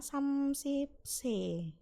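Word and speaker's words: 삼십: Ini saya tulis lagi ya, samsipse. Samsip. Sekali lagi, kalau mau menggunakan C itu bacanya samsip, menggunakan angka sino.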